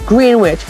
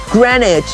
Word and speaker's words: Greenwich: see what it says welcome to green witch pronounced grenic in this 24 hours